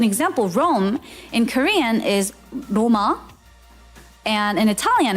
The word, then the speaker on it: Roma: Where is Rome? It's Roma.